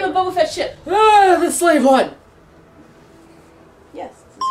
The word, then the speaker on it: Slave I: Or Slav One, depending on how you want to pronounce it. Slav. They wanted to pronounce it Slav instead of Slave because Slave is bad, but...